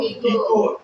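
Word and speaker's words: echo: इको क्या पढ़े इसको इको एच नहीं पढ़ रहे है सी को पढ़ रहे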